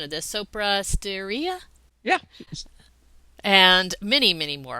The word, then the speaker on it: Sopra Steria: Management Institute, Foundation Medicine, correct me on the pronunciation of this, Sopra Steria?